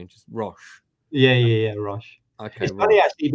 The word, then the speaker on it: Rosch: is that totally wrong rash rash rash so basically kind of almost dropped the C effectively and just rash yeah yeah yeah Rush